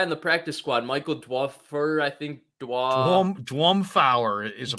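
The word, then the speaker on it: Dwumfour: 52, the guy in the practice squad, Michael Dwuffer, I think Dwumfauer is a player. Dwumfauer, that's how you pronounce it.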